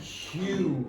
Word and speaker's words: Hugh: It's Hugh. Hugh. Everyone pronounce that? Hugh.